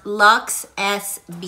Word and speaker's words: LUXSB: but they've rebranded and they're pronounced luxe s b so if you enjoyed